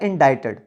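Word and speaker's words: indicted: तो वैसे इसका पर्टिकुलर जो ओके प्रोनाउंसिएशन है वो होता है इंडाइटेड।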